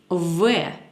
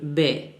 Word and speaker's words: В: Une consonne V. Oh oui, vous avez bien entendu, il se prononce comme V, pas comme le B.